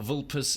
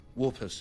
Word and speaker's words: Vulpes: In all these things, Vulpes is a master. Oh, he pronounces the Latin V correctly. He pronounces it as W, which is good.